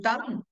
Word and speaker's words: thumb: Whenever you find the letter MB, the letters MB at the end of any English word, the B must be silent letter.